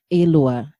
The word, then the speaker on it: Alua: Elua. Yeah. Elua. Elua. Elua. Yeah. Emphasis on the A.